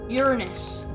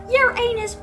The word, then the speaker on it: Uranus: oh no that's just Uranus that's how you actually pronounce it it's not your anus where did that on